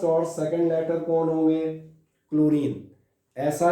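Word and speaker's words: chlorine: जब आप क्लोरीन पढ़ते हैं सो इट इज नॉट चलोरीन, मतलब एच इज साइलेंट, और H silent is ऑन the basis of pronunciation. First और सेकंड लेटर कौन होंगे, क्लोरीन।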